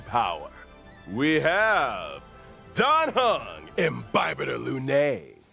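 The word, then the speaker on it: Imbibitor Lunae: First on the list, and finally revealing his true power, we have Dan Hung, Imbibiter Lune. Imbibita Lune, that's how you pronounce that.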